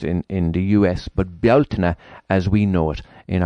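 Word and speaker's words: Bealtaine: and it is associated with the festival of beltane as it's pronounced in in the us but beltner as we know it in ireland and it's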